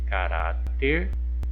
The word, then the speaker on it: caráter: Caráter. Qual que é a sílaba mais forte? A sílaba tônica é o rá. Vamos verificar a posição. É a última sílaba? Não, é a penúltima sílaba que é tônica. Então, nesse caso, ela é classificada como paroxítona.